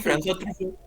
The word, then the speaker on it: François Truffaut: Yo pienso en François Truffaut, así lo estoy pronunciando bien, François, Sí, sí, François Truffaut.